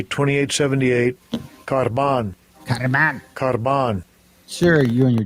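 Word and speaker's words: korban: This is how they pronounce it. Strong's G 2878. Karban.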